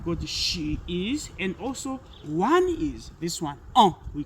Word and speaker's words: on: We have got she is and also one is this one. We call it we pronounce this one through the nazal past. It is a it has got a naza sound. So it's on.